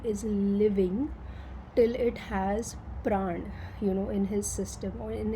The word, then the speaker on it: prana: And fire is actually representative of so prana, or whatever it's called prana in English, but it's actually pran, or that's how we pronounce it in India.